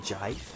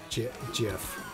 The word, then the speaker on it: GIF: It's a GIF. What is it, as in graphic? As in giraffe. Yes, it does stand for graphic interchange format. But the person who made GIFs, pronounced it as GIF.